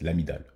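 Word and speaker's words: amygdale: l'amidale du cerveau hein même si on le on l'écrit l'amydale mais ça se prononce l'amidale voilà et la neurohypophyse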